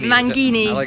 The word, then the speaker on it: Mangini: got your new Drummer Mike Mangini Mangini it's correct pronunciation so um so just